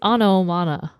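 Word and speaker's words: ὄνομα: The Greek words onomana. Onoma. and I think poiein. the T is silent. No, I said onoma, meaning. Not onomana.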